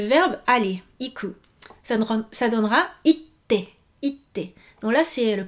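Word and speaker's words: 行って: ça donnera itte, itte. Donc là, c'est le petit tsu dont je vous parlais. Il faut retenir itte, itte. Et non pas iite.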